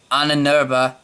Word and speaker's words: Ahnenerbe: A hand-picked band of fanatical Nazi thugs, a group known as the Ahnenerbe, yeah, that's how you pronounce it, took over the mines shortly thereafter and sealed off the area.